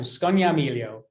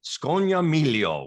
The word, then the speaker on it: Scognamiglio: Scognamiglio. Scognamiglio. What a beautiful name. Don't pronounce the G's, and it rolls off the tongue.